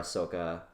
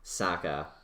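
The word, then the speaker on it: Sokka: them it would probably be like and Katara Ahsoka right Saka I'm sorry I thought oh I keep mispronouncing it I'm sorry I saw the movie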